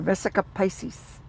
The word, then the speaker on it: Vesica Pisces: But what I'm saying is the vesica Pisces. I'll tell you what the vesica Pisces. I love that word too. Vesica Pisces, you know, like the uh zodiac sign Pisces.